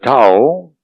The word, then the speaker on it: Thao: So, Tao, you have to remember the name is Thao, we pronounce Tao.